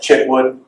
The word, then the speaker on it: Chitwood: but Could you say that again or spell it? Chitwood, Chip.